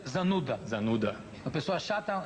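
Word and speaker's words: зануда: E em russo é zanuda. Zanuda. Uma pessoa chata, zanuda. Pronúncia perfeita.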